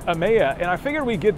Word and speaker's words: Emeya: It's pronounced Emeya, and I figured we'd get that out of